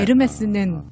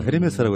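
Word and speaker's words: Hermès: 알파벳 체계에서 H만 먹어 헤르메스라고 했다가 근데 하지만 이것도 지식인 거예요. 그러니까 예. 방송 들으시는 분들이 앞으로는 헤르메스라고 하시면 안 돼요.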